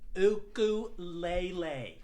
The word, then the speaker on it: ukulele: innocent sound of the ukulele and this woman she just yells out from the crowd it's pronounced ooku laylee and i just kind